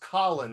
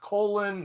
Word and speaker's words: Colin: It's pronounced Colin, not Colon, not Collins, not, you know, however weird, not with a K like no C O L I N.